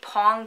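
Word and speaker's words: Poäng: hours of knitting and it is the pong chair i think it's pronounced pong it's p-o-a-n-g and again it's from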